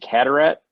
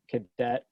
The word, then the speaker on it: Cadaret: How's the best way to pronounce this? Is it Cadaret? Yeah, you nailed it. That's rare. Playing hockey growing up, when they announce when you go on the ice, I've heard everything. I've heard Cadet, Carrot, Cadaret.